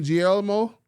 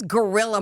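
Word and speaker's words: Guerrilla: I just want to let y'all know I was trying to say gorilla is Gorrr. This is GUE. What's the E? U is silent?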